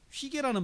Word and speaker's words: hygge: 휘게라는 말을 써요. 휘게. 여러분, 휘게라는 말이 이렇게 됩니다. 휘게. 발음을 휘게 이렇게 써요. 휘게. HYGGE 해가지고 휘게. 이게 덴마크 발음이죠.